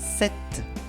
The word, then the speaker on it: cette: Para el femenino, el adjetivo demostrativo femenino singular es cette. Se pronuncia igual que el masculino, el segundo que hemos visto, escrito C-E-T, pero el femenino se escribe con dos T-E al final.